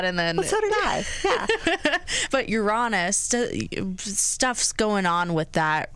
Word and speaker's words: Uranus: with I don't know everyone pronounces it differently Uranus you're honest you're honest your ass okay the professionals say it you're honest yeah some people call it Uranus but that doesn't sound very nice I know that's I